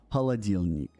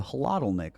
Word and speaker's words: холодильник: Холодильник. And you'll see that actually in Tarkov. We actually use the hladilnik, a lot of people call it, but it's холодильник is the proper way to pronounce it.